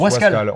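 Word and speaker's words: Wasquehal: Wascal ça se prononce Wascal.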